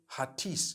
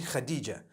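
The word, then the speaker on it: Hatice: In Turkish, some people spell it H-A-T-I-C-E. I would say Hatis for that. No, it's actually Khadija. In Turkish, that's the way they write it.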